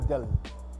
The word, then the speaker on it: Dill: ডেল ডেল স্পেলিংটা যদিও লেখা দিল দিয়ে DILL, কিন্তু অ্যাকচুয়ালি উচ্চারণ হবে ডেল।